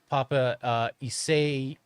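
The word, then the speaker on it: Paapa Essiedu: Oh, and I'm pretty sure his name is pronounced Papa Isayadu. Okay. Isayadu.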